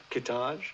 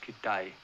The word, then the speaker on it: Kittage: Kittage. No, it's pronounced Kittai.